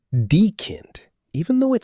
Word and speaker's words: die: The correct pronunciation is die. Die. Not die, Katze. Something terrible is happening to the cat. Poor cat. Pronunciation trick. Die rhymes with free.